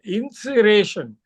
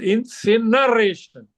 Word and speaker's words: incineration: know for example you used a word and mispronounced insation it is incineration i n c i n e r a t you wrote it so